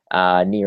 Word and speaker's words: Nir: Near is spelled like my first name, N-I-R.